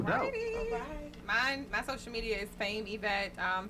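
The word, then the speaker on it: Faim Evette: My social media is Fame Yvette. Fame is spelled FAIM, EVETTE. Yvette without a Y.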